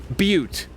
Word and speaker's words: Butte: Butte is how it's pronounced, confirms Jelly Buns.